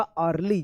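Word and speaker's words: early: जैसे अर्ली इ ए का अ उच्चारण होगा। अर्ली।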